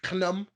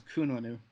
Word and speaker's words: Khnum: Oingo himself, which is Knum. I believe that's how you're supposed to pronounce it. Knum. I thought it was Kununu. No, it's Knum.